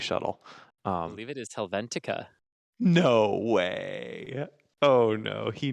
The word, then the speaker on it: Helvetica: I just mispronounced it. Helvetica, yes.